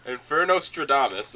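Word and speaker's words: Infernostradamus: Inferno Stradamus. No, Infernostraamus. Like Nostradamus the Philosopher.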